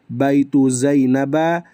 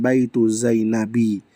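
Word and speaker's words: بيتُ زينبَ: Makanya dia dibaca baitu zainaba bukan baitu zainabi.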